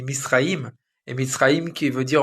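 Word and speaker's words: מצרים: Et l'Égypte en hébreu, il se dit Misraïm.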